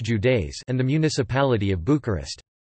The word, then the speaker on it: județe: Romania is divided into 41 counties, județe, pronounced Judeis, and the municipality of Bucharest.